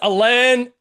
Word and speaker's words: Alain: And now it's Alain, Alain. I'll get you to give us the French Alan, all good.